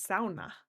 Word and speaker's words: sauna: I have learned the actual Finnish pronunciation for sauna, which is sauna. It's one of my favorite words, sauna.